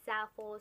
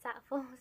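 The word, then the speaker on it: Zaful: By the way, some people pronounce it Zalful, some people pronounce it differently, but I pronounce it Zalful, so bear with me.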